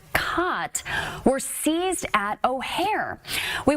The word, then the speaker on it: khat: It is actually pronounced khat.